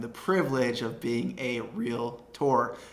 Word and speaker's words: Realtor: privilege of being a real tour not a realtor but a real tour that is the correct way to say it number six is going